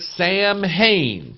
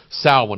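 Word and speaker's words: Samhain: holy days of and again it looks like Sam Hayne some guy named Sam Hayne but it's pronounced saln again it's Celtic and Irish and Nordic and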